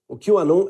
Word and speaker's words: QAnon: Se pronuncia la "Q" en inglés y "Anon" significa "Anónimos". QAnon es un usuario anónimo de salas de chat en Internet, como la 4Chan.